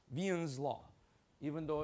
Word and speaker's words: Wien: First principle is known as Vian's law. He's a German uh physicist and you pronounce it V with a V. Vian's law even though it's uh written as W.